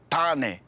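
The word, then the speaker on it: Tāne: You'll hear the correct pronunciation of each word first and then see how it's spelt.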